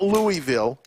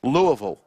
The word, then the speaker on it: Louisville: Not Louisville, Louisville.